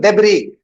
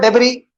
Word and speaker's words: debris: the head by flying debris. Do you remember this word debris? If you remember, while we were learning silent letters in words, okay, that time we learned this word wherein S is silent.